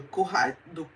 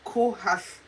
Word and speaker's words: Kohath: The three main groups listed here were the Kohat, let me look for it now before I mispronounce it. I can't find why it's Kohath, the Kohath clan.